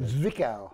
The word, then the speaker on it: Zwickau: And it's in the VW plant in Zwickau. Zwickau. Well, what? The German Z is pronounced like a... Zwickau. Like a TS. And Zwickau, huh?